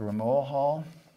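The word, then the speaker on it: Rmoahal: So the Age of Aquarius, those beings are called a very difficult word to pronounce, R-M-O-A-H-A-L, the Ramoahal.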